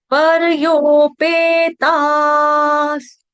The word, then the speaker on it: परयोपेतास्: परयोपेतास, सपूर्ण नहीं है, स आपका हलंत है, आधा है। विसर्ग का उच्चारण यहाँ पे हलंत स से किया जाएगा ग्रामर के हिसाब से, ठीक है। तो श्रद्धया परयोपेतास, यहाँ पे परयो में र पूर्ण है, परयोपेतास, ओ की मात्रा।